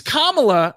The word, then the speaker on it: Kamala: that but like how so many people don't pronounce her name correctly with the camela thing yeah it's Kamala and like to the point where like I